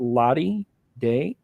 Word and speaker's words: ladidaix: So it's at Ladi Day, LADIDAIX. Did I pronounce that right?